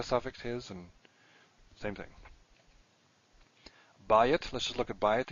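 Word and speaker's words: בַּיִת: These are all stressed in the first syllable, which is why the diphthong is there.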